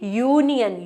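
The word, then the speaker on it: union: यूनियन लिख दिया तो, क्योंकि अगर आप यूनियन वर्ड को प्रोनाउंस करो तो प्रोनाउंसिएशन उसकी क्या बन रही है, यूनियन, यू, य की साउंड आ रही है ना कि स्वर की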